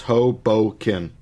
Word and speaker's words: Hoboken: So, according to Yahoo Answers, it's pronounced Hoboken.